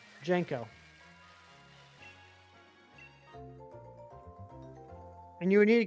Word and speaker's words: JNCO: Is that how it's pronounced? Yeah, JNCO. Jenko.